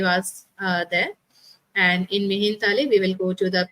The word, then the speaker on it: Mihintale: I'm in Colombo, and after just finishing this class, we are leaving for Mihintele, as Bante told me, it's pronunciation. Mihintale.